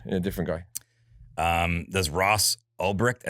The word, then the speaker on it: Ulbricht: Does Ross Ulbricht? Is that how you pronounce his name? Ulbricht. Yeah.